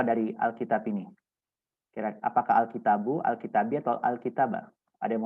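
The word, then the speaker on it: الكتابُ: itu kan kitabun tetapi karena ada alif lam maka siakat belaknya itu dibacanya pakai D aja Jadi dibacanya alkitabu Kenapa kayak Demikian Ya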